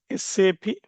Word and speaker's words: SAP: So you should spell this as SAP not as SAP. So most of the people nonSAP guys they they spell it as like know SAP. You should not say SAP. Okay. So in German language sap means pig. Okay. So you have to spell individual letters.